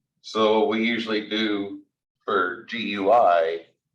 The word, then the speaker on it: GUI: we usually do for GUI pronounce that like the word gooey which I hope you